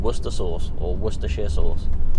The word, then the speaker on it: Worcestershire: Americans would call it, Worcestershire sauce. Yeah, the Americans really struggle with saying Worcester sauce, don't they? It's Worcestershire sauce. That's it. That's what it's called. Don't put too many syllables in it.